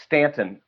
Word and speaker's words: Staunton: And there's notes at the Wilson Museum in Stanton, Virginia, spelled Staunton, but pronounced Stanton, but spelled Staunton.